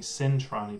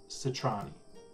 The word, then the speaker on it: Citrani: I'm saying Centrani, but it's Citrani.